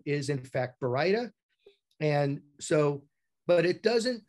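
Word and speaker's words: Baryta: Some people call it Barda. I've even heard Bareita.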